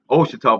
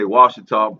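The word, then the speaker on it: Ouachita: and the connection to Washita, Oshita, or pronounced Oshita, but most say Washita, but finding, yeah, and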